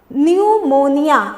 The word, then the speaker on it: pneumonia: कैसे P silent है, इसका प्रोनाउंसिएशन देखिए, न्यूमोनिया, जिसमें पी साइलेंट हो गया और NEUMONIA, न्यूमोनिया।